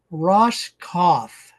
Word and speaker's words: Roskopf: We're visiting with Ross Cauth. So, the P is silent.